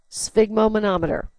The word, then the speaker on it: sphygmomanometer: Sphygmomanometer. So it really sounds out like the syllables. Sphig is kind of the funny one. Manometer. Sphygmomanometer.